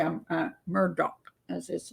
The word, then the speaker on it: Murdaugh: only thing I want to say I'm uh Murdock as his name actually is pronounce all right now I want to talk